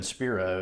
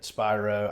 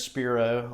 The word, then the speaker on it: Spiro: So like even Spiro is not obvious. I get Spyro. I get Shapiro a lot.